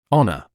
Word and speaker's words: honor: The h at the beginning of this word is silent.